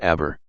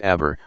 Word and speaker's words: aber: transformation, he indicated that the unstressed E of the second syllable did not offer him the slightest guarantee against the feared appearance of something alien and contradictory, which is why he had decided to accentuate it.